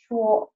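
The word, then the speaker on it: 辶: as you see, in this way, and it's pronounced shuo.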